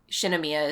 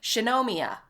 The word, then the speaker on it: Shinomiya: to just read it that it it makes sense in how just you would read it in english like shinomiya is just shinomiya like you don't you don't really think about it but they say it like shanomia and it's like i'm going to kill you all this is that's not how anyone says anything it and it's so weird